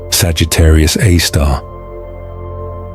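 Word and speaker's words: Sagittarius A*: This object is known as Sagittarius Aar pronounced Sagittarius AAR.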